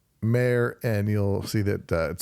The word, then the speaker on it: Maher: the podcast because it's we pronounce it mayor and you'll see that